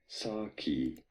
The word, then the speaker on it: Psaki: Honestly, call me naive here, but all I was wanting to was know our fucking how you pronounce the bloody name. But anyway. Jen Psaki.